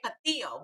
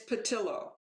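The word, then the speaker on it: Pattillo: spanish accent sometimes so i want to say papillo but i gather it's probably not pronounced that way it it's patilla yeah it's how she pronounced it yes so melvin patillo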